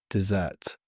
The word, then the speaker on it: dessert: Dessert. Now you repeat. Ah, the sweet treat at the end. Be careful with pronunciation. It's dessert, not desert.